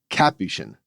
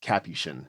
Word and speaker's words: Capuchin: the monkey breed the the religious order is pronounced with the emphasis on the first syllable Capuchin just a little quibble